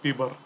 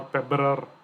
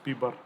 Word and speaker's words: PBRER: term pbr er then please remember to pronounce it as p bar okay now how about